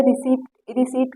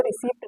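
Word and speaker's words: receipt: इसे रिसीप्ट कहते हैं, इसको रिसीप्ट नहीं कहा जाता। यहाँ पर पी साइलेंट है क्योंकि आई आया है।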